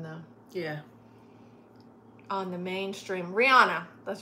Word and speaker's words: Rihanna: I've actually learned recently that her name is actually pronounced Rihanna. I mean, Rihanna. I was about to say, what? See, I can't even say it right. My whole life I've been saying Rihanna, but it's Rihanna.